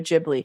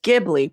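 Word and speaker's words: Ghibli: people say studio gibli and people say studio jibli so the correct pronunciation is gibli but now people say heard JBL listen listen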